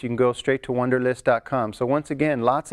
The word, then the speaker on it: Wunderlist: right now called Wunderlist i guess we should pronounce that as a V because von der list is coming from programmers in Germany ok so I'm going to install Wunderlist I'm going to say it like an American ok so let's install